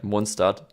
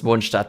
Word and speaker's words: Mondstadt: one of the things, I really want to pronounce Mondstadt the German way, but when you're in the flow of reading something in English, then like, at least for me, because I'm in the flow of the language, I automatically want to pronounce it English and go like Mondstadt. I don't know yet how I'm gonna do it, but the proper way to pronounce it is Mondstadt because it's German, okay?